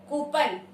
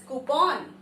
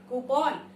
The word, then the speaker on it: coupon: Coupon. Wrong English. The correct pronunciation is coupon. Coupon. It is not coupon but it is coupon.